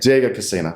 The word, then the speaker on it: Diego Cassina: Is that how you pronounce it? That's exactly it. Diego Cassina.